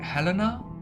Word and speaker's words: Helena: Even my own name is I would then pronounce it like Helena, so rather close to German pronunciation.